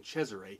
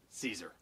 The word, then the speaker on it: Cesare: is adam caesar and before somebody in the comments tries to correct me i am not mispronouncing cesare he does pronounce it caesar in addition to having